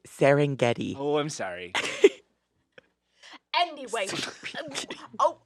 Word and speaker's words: Serengeti: that's amazing exactly the serengeti how do you pronounce it i've only seen it written it's serengeti oh i'm sorry anyway oh what was your